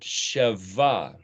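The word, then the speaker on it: שבע: letter of the alphabet, is pronounced as either a B or a V. So you might call it Sheva, Shevaim.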